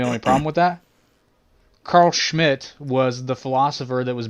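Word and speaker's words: Schmitt: name of carl schmidt schmidt and you have to pronounce that way because he's german fella schmidt carl schmidt and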